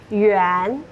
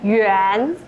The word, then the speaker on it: yuan: And the unit of Chinese RMB is yuan. yuan Yuan. Yes. It's similar to Japanese yen, but it's not same.